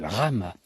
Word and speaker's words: La Ramaz: la Rama donc c'est la rame exactement ça s'écrit la Ramaz mais c'est le village de la rame en savoyard à RAM et euh